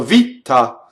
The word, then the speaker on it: vita: So here's a good example of a single T that I hear as a double. So vita. So how do I make a double T versus single T?